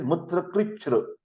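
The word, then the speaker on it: मूत्रकृच्छ्र: Mutra krichra, the pronunciation is mutra krichra, difficult and painful urination, which is also called as a dysuria.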